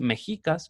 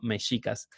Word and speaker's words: mexicas: cultura llamada mexicas saleh no es mexicas como muchos felices sino mexicas que es la pronunciación correcta de esta cultura los mexicas me estás